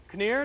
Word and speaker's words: Kinnear: Kinnear, did I pronounce it right? Nur. Nur, all right.